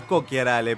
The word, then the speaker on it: Cocchiarale: Cara de purrete atorrante, este Gastón Cocharale. ¿Cocharale te dicen? Cocharale, no sabía, sí. Que es, tendría que ser Cocharale. En realidad es Cocharale, pero acá lo argentinizaron.